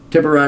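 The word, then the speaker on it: tiburón: pronounce Spanish names like tiberon tiberon is how you pronounce it in the United States because of the phonetics here uh but it's Spanish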